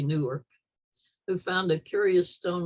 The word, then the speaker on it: Newark: York New York Ohio if you come from Columbus you pronounce that word nerk that's the way Ohio and say Newark who found a curious